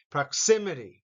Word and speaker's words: proximity: Xi, the second syllable has the accent. Proximity.